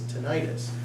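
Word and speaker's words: tinnitus: you are suffering from what is called tenius I've also heard it pronounced as tentis when you suffer from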